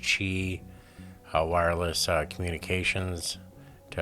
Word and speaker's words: Qi: them this is using the qi or it's pronounced chi uh wireless uh communications to actually perform the